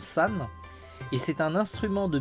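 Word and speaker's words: 三: alors ça sé crréit avec le caractère 3 en japonais qui se prononce San et c'est un instrument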